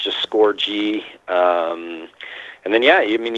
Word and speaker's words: Scourgie: Twitter's just score like a goal with a G because that's how my name is pronounced not how it's spelt I'm also on Facebook